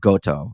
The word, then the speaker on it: Goto: your sort of back and forth relationship with Goto. I don't know if I'm pronouncing his name right.